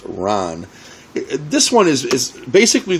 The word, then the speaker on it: Ran: years Masterpiece it's called Ron looks like ran but it's pronounced Ron this one is is